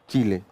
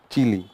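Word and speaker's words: Chile: चिली क्या बोलते हैं, चीले या चिली? चीले दोनों हो सकते हैं। उसका शेप मिर्चे के जैसे है तो इसीलिए चिली बोलते हैं, लेकिन कई लोग प्रोनाउंसिएशन इसका चीले भी करते हैं।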